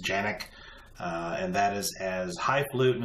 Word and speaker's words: Canik: going to review the Janek tp9 sa this weapon it's spelled CA ni ke a lot of people call it the Kanak the actual turkish pronunciation is Janek and that is as